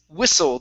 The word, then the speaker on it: whistle: This word here is whistle. The T does not make a sound.